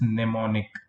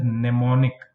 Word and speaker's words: mnemonic: But for that, you have to remember this mnemonic. This is known as mnemonic. Mnemonic. M is silent, is not spoken.